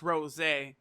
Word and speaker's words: Rosé: the show it's not super saiyan rose but pronounced rose eh so okay I just Sam who on just